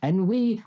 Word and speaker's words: ennui: Ennui has come up twice.